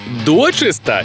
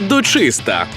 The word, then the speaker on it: дочиста: відгадали так і сталось у цьому слові наголос подвійний можна казати і дочиста і дочиста дочиста дочиста дочиста дочиста дочиста да зафіксували у слові дочиста подвійний наголос і дочиста і дочиста правильні А точно блін а